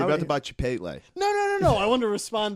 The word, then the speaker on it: Chipotle: the way you said Chipotle. Chipotle. That's right. Yeah. What are you supposed to say? Chipotle. Chipotle. Chipotle. I pronounce the L.